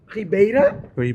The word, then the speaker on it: Ribeira: do you pronounce it Rea Rea Rea comes like Reba okay Rea with press